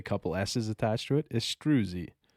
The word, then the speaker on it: Istruzi: maybe we can uh let's get this pronunciation because I know we went over it last time estrusy nailed it did I all right I like it okay estrusy Bryce astrusy you got it can we hear it